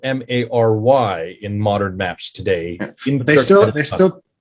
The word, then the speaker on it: Mary: They still pronounce it as Malv or something along those lines. So it's just they use a Y letter, but it's pronounced the same way as it was.